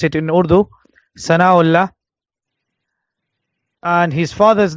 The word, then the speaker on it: Thana Allah: the Sheikh's name was like they say in Urdu Sana Allah al-kashmiri so the Sheikh's name was pronounce it in Urdu Sana Allah and his father's name